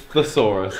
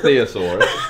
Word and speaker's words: thesaurus: It's thesaurus as well, not theosaurus.